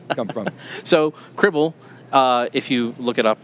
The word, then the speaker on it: Cribl: Cribl, rhymes with Tribble.